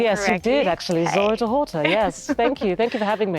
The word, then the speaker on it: Zora Dehorter: Am I pronouncing the name correctly? Yes, you did actually. Hi. Zora Dehorter, yes.